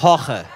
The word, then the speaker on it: Jorge: Das ist nämlich Horche. Horche. Ja, so. Das habe ich okay ausgesprochen.